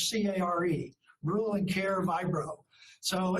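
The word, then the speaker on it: Kjær: It's German and it's care. So you think of K-J-A-E-R as C-A-R-E.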